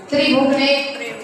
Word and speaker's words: त्रिभुवने: पढ़िए, थोड़ा सा त्रिभुवने, आपका त्रि साइलेंट हो जाता है, त्रिभुवने स्पष्ट नहीं आता है।